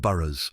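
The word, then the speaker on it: burh: network of fortified towns called burs pronounced burs spread strategically across wessix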